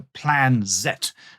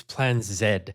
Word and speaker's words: Plan Z: Yes, for our American listeners, one might pronounce it plan Z, but of course for our Commonwealth listeners, it's Plan Zed.